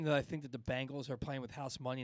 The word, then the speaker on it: Bengals: same thing too bengals they're very different it's tangles literally hang on i'll even spell it out for you one of them looks like this bengals b-e-n-g-a-l-s the other one is this b-a-n-g-l-e-s bang bangles bangles there's bengals bengals bangla bangla